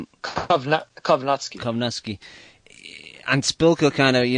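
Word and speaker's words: Kownacki: Kowalski, but you know, how do you pronounce the name? Kowalski? Kovnatsky.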